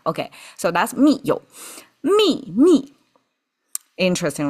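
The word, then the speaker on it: 秘密: mi mi Interesting, right? Same pronunciation. And falling tone. We didn't do any tonal change for the ease of pronunciation, but we insisted on two falling tones.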